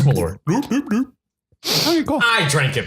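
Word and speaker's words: Malört: Mallert. Malort. How is that O supposed to be pronounced? What do you mean? Malort. Malort? Like Swedish chef? No, it's just Malort.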